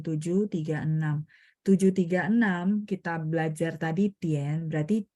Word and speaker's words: 点: Tian itu vokalnya adalah te sama IAN, benar nggak? D bacanya te, ien, tien, tapi nada 3, tien, gitu ya. Masih ingat ya cara spelling ya. Nah, jadi IAN itu kita bacanya IEN.